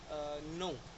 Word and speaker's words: know: Like नो, के एन ओ डब्ल्यू, नो, हम इसे कनो नहीं बोलते, हम इसे नो बोलते हैं बिकॉज के जो है वो एन के साथ प्रोसीड हो रहा है, दैट्स वाई नो।